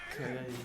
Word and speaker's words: Calle: that's how it would be pronounced in Spanish. Double L is a Y. Calle.